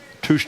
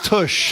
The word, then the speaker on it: tush: Touche toes. Or it's not touche, by the way. How do you say it? It's tush. Tush. Not a touche.